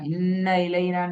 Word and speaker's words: إن إلينا: இந்த என்றத வெளிப்படையா உச்சரிக்கணுமா? இன்ன இலைனான்னு சரி, என்றத எங்களுக்குள்ள சுருக்கி மறைச்சி உச்சரிக்க கூடாது. சரியா? நீங்க உச்சரிச்சதுல என்றது முழுமையாக வெளிப்படல, மறைஞ்சிட்டு. அது பிறகு எந்த எழுத்தா இருந்தாலும் அந்த எழுத்தை முழுமையாக வெளிப்படுத்தி உச்சரிக்கின்ற அளவுக்கு நான் உச்சரிக்கணும். முக்கியம். விளங்கினா? இன்ன இன்ன இலைனா இன்ன என்ற அந்த உச்சரிப்பு எடுக்கணும்.